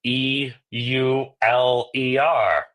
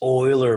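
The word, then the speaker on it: Euler: hear about Leonard uler you're like oh it's let me uh bring it up here it's it's uh oh it's EU ler uler of course and then you get Shan because no no it's oer it's Oiler man all right let's let's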